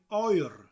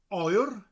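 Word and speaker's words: oer: oil oil means coat spelled o e a oil got a rolling r at the end of it that sound oil it almost sounds like you're calling somebody saying oil iron come over here now if the weather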